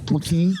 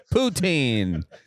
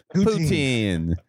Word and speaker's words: poutine: Putin. Poutine. Poutine. Don't mispronounce it.